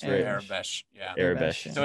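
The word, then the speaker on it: Aurebesh: And like you can't always trust the Airbush, or however it's pronounced. Airbesh.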